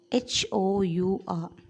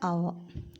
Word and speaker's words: hour: Then next word H-O-U-R, an hour, an hour. So here H is silent. The dominant sound here is O.